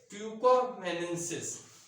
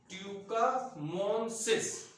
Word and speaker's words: tucumanensis: तो ग्लोमेरुला, ये है glomeruli, GLO glomeruli glomeruli, ट्यूकोमेनेंसिस TUCUMANENSIS, ठीक है। तो इसका उच्चारण क्या हुआ, ग्लोमेरुला ट्यूकोमेनेंसिस, ठीक है, ये है इसका।